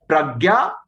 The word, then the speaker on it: prajna: Remember, it's a Sanskrit term, and actually the syllable that you use, the letter that you use is the nya. So sometimes even in English we write it as Jna because it is actually a modification of ja.